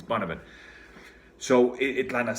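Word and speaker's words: Bunnahabhain: And then there's one Bonavent that's Bunnhabha, whatever. If you read it, it reads like something like Bonahava Bahane or something like that, but it's Bonavent.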